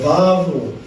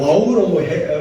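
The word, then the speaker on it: וָו: 그래서 우리가 우리가 저 바브로 저 와우라고 번역한 영국식 발음이고 원래는 v 발음이야 됩니다.이 저 에바브 연계형인데이 번역한 영어로 번역하가 와우 연경이 됐어요.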